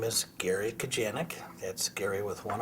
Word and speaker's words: Kujanek: My name is Gary Kujanek. That's Gary with one R. And Kujanek, which rhymes with Titanic or Atlantic or gigantic, same inflection, is Kujanek.